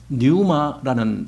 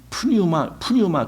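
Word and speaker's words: πνεῦμα: 헬라어 단어를 보면은요. 뉴마라는 단어가 있어요. 뉴마. 그게 숨이에요. 호흡 뭐 이런 거예요. 근데 그 뉴마가 뭐 어떤 푸뉴마 그랬는데 그 앞에 피가 묵음이로 나와요. 그래서 뉴마 하는 게 맞아요.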